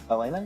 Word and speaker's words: Elena: Say her name right. Elena? Yeah. Okay, that's right.